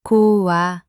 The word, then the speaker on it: 고와: O plus a becomes wa. 고와.